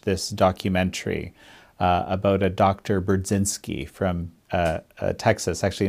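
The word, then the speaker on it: Burzynski: Burdzinski from Texas. Actually, in Polish, you would say his name Burdzinski, but that's how I always thought it.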